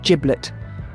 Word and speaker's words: giblet: let's explore the word giblet this term pronounced with a soft J or as linguists would say a voiced appical africat has a rich and